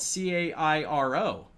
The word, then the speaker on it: Cairo: have a city in southern illinois uh spelled c-a-i-r-o and it's pronounced cairo because we are notoriously bad at